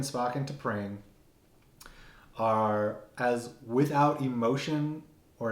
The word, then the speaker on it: T'Pring: I keep thinking it's like Ping from Mulan. It's T'Pring.